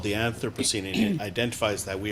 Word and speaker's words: Anthropocene: Anthropocene?